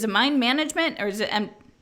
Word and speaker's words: Mind MGMT: your journal talking about mind MGMT it's a mine management or is it and it's pronounced banishment yeah mine management yeah every time I will just eat that